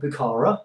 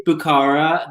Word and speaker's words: Bukhara: So the new fragrance is called Bukhara. Am I pronouncing that right, Nick? I'm not murdering that. Yeah, I mean, we say Bukhara. They would say Bukhara, but Bukhara is easier, so we'll stick with that.